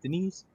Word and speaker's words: Denis Villeneuve: Your first question in the world of Denise Villeneuve. I learned how to say his name. No, you didn't. You said you're talking about like a sister, Denise. What are you? Yeah, it's Denis. Denis. Denis Villeneuve.